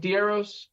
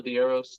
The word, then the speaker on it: DeArros: Google DeArros. Is that how to say it? It was like DeArros. DeArros? That's the whole inspiration of the business name, was like follow DeArros, like the arrows.